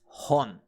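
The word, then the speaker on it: 本: origin or source thus we use the on reading what book and that's horn how do you remember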